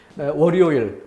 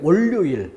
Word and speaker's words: 월요일: 월요일 편하게 좀 이어서 월요일이라고 발음하면 되는데 월요일 이렇게 발음하는 사람이 있어요.